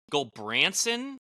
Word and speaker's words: Gulbranson: Gulbranson? Yeah. In the pronunciation Gulbranson, guide, Missouri? In the pronunciation guide, it is spelled GULL-BRAN-SON.